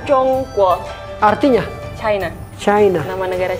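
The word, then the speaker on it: 中国: Ini bacanya Zhongguo, Artinya China.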